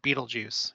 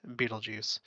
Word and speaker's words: Betelgeuse: right side of Orion's shoulder and it's called Beetlejuice and yes that is how it's pronounced Beetlejuice and we've talked about this star before it